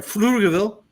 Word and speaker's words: Pflugerville: And I want the rest of the panel to coach Alma when she comes in from Pflugerville. The P is silent.